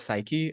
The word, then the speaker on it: Sikri: It's pronounced as Psyche. I just did a Psyche? wordplay there.